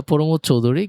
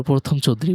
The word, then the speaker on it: প্রমথ চৌধুরী: এটা প্রমোদ চৌধুরী, কিন্তু জীবনে সবাই এটাকে একবার প্রথম চৌধুরী পড়ে।